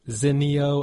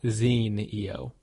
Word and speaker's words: Zinio: the Zeno Channel and confirmed that it is in fact pronounced Zeno and not Zeno